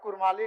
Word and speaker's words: कुड़माली: विभिन्न विद्वानों के मतानुसार कुड़मी समुदाय का नाम उच्चारण हार्ड डी या सॉफ्ट डी यानी र अक्षर के साथ स्पष्ट रूप से कुड़मी के रूप में एवं इनके मातृभाषा नाम का उच्चारण कुड़माली नेगाचारी जैसे शब्द प्रयुक्त होते हैं।